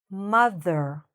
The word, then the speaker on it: mother: Mother. Mother. So, my tongue is coming out a little bit between my teeth when I'm saying the th part. Mother. Mother. Okay? The stress is here, the beginning.